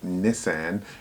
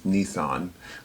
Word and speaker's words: Nissan: just a pronunciation thing the British pronounce it like Nissan and the American way is Nissan language is so fascinating